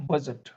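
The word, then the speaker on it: budget: ये होता है बजट। डी और जी इकट्ठा आ गया तो ज का साउंड आएगा यहाँ, बजट।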